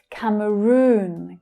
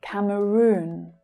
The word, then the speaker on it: Cameroon: Cameroon. Cameroon. So the stress there is on the final syllable. It's the long vowel sound. Oo. Cameroon. Cameroon.